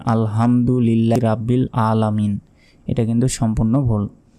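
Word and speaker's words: ربّ: সময় অনেকে ভুল বলি এভাবে বলি যে আলহামদুলিল্লাহি রাব্বিল আলামিন এটা কিন্তু সম্পূর্ণ ভুল এখানে আলহামদু হবে না বলতে হবে আল হামদু হামদু গলার ভেতর থেকে উচ্চারিত হবে হামদু আলহামদু লিল্লাহি লাতে এক সেকেন্ড টেনে পড়বেন রব্বিল রব্বিল রাব্বিল নয় রব্বিল আলামিন এই আইন এখানে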